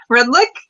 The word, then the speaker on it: Redlich: I'll take a shot. Redlich? Yeah. Was that how it's pronounced? Okay, yeah.